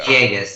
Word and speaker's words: Villegas: Sarah Villegas, right? That's how it's pronounced? That's right. Yeah. Villegas, you got it.